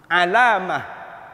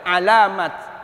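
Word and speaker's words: علامة: Sebenarnya huruf ta marbutoh ini enggak boleh dibaca ta. Kalau dia berhenti harus dibaca ha. Alamah. Enggak boleh alamat. Salah bacanya.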